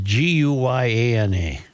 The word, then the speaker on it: Guyana: Is it Ghana? No, this is Guyana. This is a different. This is a different Anna.